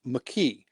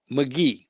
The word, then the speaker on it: McKee: See, my last name's McKe. Mhm. But I get McGee.